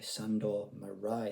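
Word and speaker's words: Sándor Márai: of all time, Portraits of a Marriage by Sandor Marai, I think is the correct pronunciation.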